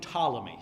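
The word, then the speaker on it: Ptolemy: to have one named tmy so the p is silent tmy the subord ordinate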